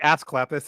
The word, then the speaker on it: Asclepius: It's actually Asclepius is how that's pronounced.